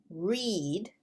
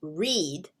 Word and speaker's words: read: But we have read, which would be a long E sound, and notice that we have an EA combination. Now that doesn't always work as E, but for here, it's read. And then there's read.